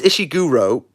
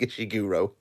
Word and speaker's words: Ishiguro: to car Chuck uh this ishiguro imagine imagine saying you read like a shuro imagine it my Lord oh who's your favorite author it's uh isig Guru get out of here